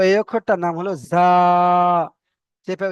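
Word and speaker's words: زاي: তো এই অক্ষরটার নাম হলো জা। চেপে উচ্চারণ হবে, জা।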